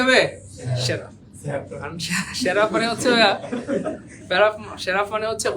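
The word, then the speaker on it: seraph: তো যাই হোক, উচ্চারণ হবে সেরাফ। কি হবে? তো এটাকে দুই ভাবে করতে পারেন, শেরপিম অথবা সেরাফ।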